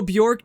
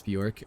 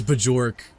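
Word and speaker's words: Björk: Do not ask me to pronounce Bjork. Okay, Bajork. Bro, Luca Deadass thought it was Bajork.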